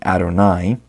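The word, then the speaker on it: יהוה: Most scholars believe God's name was originally pronounced Yahweh, and for the last couple thousand years, Jewish people have been saying Adonai, which means my master or Lord, in place of pronouncing God's name.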